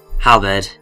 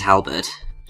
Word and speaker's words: Halberd: the battleship halberd and i'm pretty sure that i have been mispronouncing how bad oh now i have been buzzing it's mike peters Halbert it just sounds wrong in my mouth I don't know